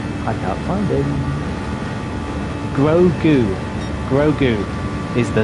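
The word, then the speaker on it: Grogu: get it right and it is I need pronunciation where is it where is he I can't find him Gru grou is the name of the alien Gru there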